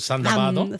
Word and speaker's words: Thunderbird: El Thunderbird, pero que los japoneses lo pronuncian en el Sandabado.